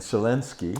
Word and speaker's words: Zelensky: So the president Zelensky.